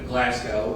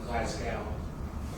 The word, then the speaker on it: Glasgow: It wasn't the normal way that people around here pronounce Glasgow. How do they pronounce it? The Glasgow and in the recording it's like Glascow is the pronunciation.